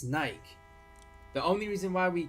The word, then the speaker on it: Nike: can't use that because it's literally pronounced Nike by the own people who own it that's why we're saying